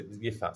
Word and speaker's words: Yifat: But anyway, No, Yifat. no, you pronounced it correctly. Fat is the way. Okay, Yifat.